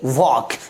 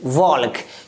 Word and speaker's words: walk: अगला example WALK वॉक, क्या पढ़ेंगे वॉक ना कि वॉल्क, क्योंकि आप देख पा